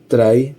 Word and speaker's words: trie: Try pronounced try is a treel like data structure that can compactly store strings. The name comes from the word retrieval which indicates it is designed for string retrieval operations.